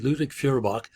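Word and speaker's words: Ludwig Feuerbach: particular so number five Ludwig for furybach that's how you pronounce it ludic furybach argues that traditional religion and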